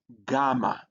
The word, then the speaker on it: gamma: can see there and it has a G sound in gone.